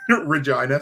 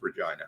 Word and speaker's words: Regina: all of Canada uh rhymes with vagina Regina Saskatchewan lety Lou if